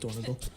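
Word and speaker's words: Dornogal: pronounced Dornagle. Oh, that's so good. I just say Donegal because it's Donegal, but with an R in it.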